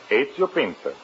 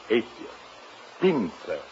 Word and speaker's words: Ezio Pinza: Is that the way you pronounce it? That is right. Ezio Pinza. How's that again? Ezio. E-Z-I-O. Ezio. Pinza.